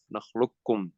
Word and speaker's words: نخلقكم: when you pronounce it, you don't say the qaf, نخلقكم. So you go straight from the lam to the kaf.